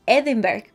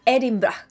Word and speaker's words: Edinburgh: a edimburgo en concreto no digáis edinburgh podría ser la forma natural que nos saldría pronunciar la palabra edinburgh que se escribe en inglés pero en realidad se pronuncia er inba no se dice ediles se dice erik eric r braun r